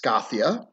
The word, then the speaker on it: Skathia: So this is about Skathia, also pronounced Skathia.